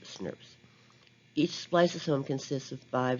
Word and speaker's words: snRNP: called snrnps which is small nuclear ribonucleoprotein particles pronounced snurps each spliceosome consists of